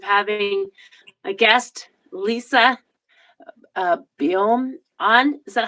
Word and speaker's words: Boehm: uh privilege of having a guest Lisa uh bom on is that how you pronounce your back name we pronounce it bam but boom whatever it's a tricky one okay